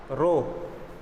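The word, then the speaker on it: rho: ये बहुत कम बनता है मेरे से, 2 बार में बनाना पड़ता है, ऐसे होता है रो। ये है इसकी स्पेलिंग, एच साइलेंट रहता है, रो।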